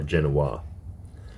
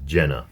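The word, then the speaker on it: Jena: Genoa J N A I'm not sure if it's Jenna or Gena okay the correct pronunciation is Jenna J N A the distinguished student Who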